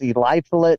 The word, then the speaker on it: Eliphalet: It's Eliphalet Miller Ford the Fourth.